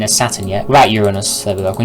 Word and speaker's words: Uranus: I'm not saying your anus, it's Uranus. Alright.